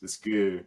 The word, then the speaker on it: GU: The brand is called Goo, and it's like 100 calories of like sodium, magnesium, potassium, flavored stuff.